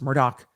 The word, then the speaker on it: Murdaugh: is a disgraced and I keep saying Murdoch because that's how it's spelled but it's Murdock that's how they pronounce it is charged with killing